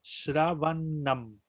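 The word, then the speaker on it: śravaṇam: Entonces se combina la S, que es palatal, con la N, que es palatal. Entonces quiere decir que se pronuncia con el mismo paladar, o sea, Shravanam. Shravanam.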